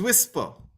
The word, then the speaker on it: WSPR: digital Mode called wspr sometimes people pronounce it as whisper right so what is